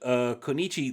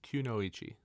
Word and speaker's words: Kunoichi: So if Turncoat Konichi leaves the battlefield before its ability resolves, If you, Kunoichi. what's that? I believe it's pronounced Kunoichi.